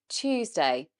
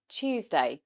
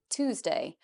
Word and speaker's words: Tuesday: Tuesday, Tuesday. We actually say it more of a ch sound, Tuesday. We don't say, like in American English, Tuesday, which is of course just saying the T and then no ya sound.